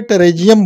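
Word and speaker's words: Pterygium: अर्म मतलब होता है ग्रूथ हो जाना, किसी चीज का 5 तरह का ग्रूथ हो जाए तो उसको मॉडर्न में टेरेजियम बोलते हैं।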